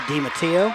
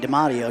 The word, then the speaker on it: DiMattio: right now uh hannah dimattio i've been mispronouncing your name saying demario she probably gets that a lot so i think that's